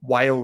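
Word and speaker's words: WALE: says Charter Hall long whale re and whale is spelled w l e can you you it's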